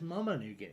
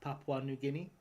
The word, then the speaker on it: Papua New Guinea: Where is Where is Mama New Guinea? That's a great question. That's a great I mean to be fair I ced that to myself because it is actually pronounced Papua New Guinea.